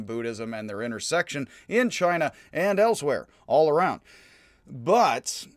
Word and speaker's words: Qin: for my purposes but unfortunately chi is now spelled like energy is now spelled q i and for some reason q now stands for a ch sound so the chin which